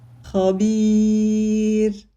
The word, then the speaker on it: خبير: The Ra here carries a haraka, but it is pronounced with a sukoon because we stopped on it. The ya sakina before it means we pronounce it lightly when we stop on this word.